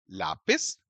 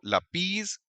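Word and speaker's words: lápiz: ठीक उसी तरह से लापिस और फासिल आप इनको लपीज या फसील नहीं बोल सकते।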